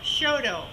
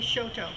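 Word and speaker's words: Choteau: of that place Mont SHO it's pronounced Sho by the Montana people but we would say Shoto it's about uh 50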